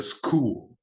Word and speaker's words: school: maintain this principle of you know keeping the pronunciation but in English you still say a school right you don't see shoe you're going to